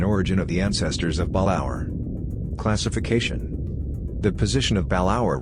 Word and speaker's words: Balaur: stratum the generic name balaur three syllables stressed on the second slash a slash is